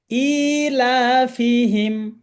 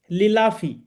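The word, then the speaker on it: إِيلَافِهِمْ: থাকলে কয় আলিফ টানতে হবে চার আলিফ তাই ইলাফিহিম ইলাফি এটা সূরা কোরাইশটা আছে অনেকে ভুল করে পড়েন লিলাফি অনেকে লিলাফি কোরাইশ পড়েন লিলা আমি অনেকেরই শুনেছি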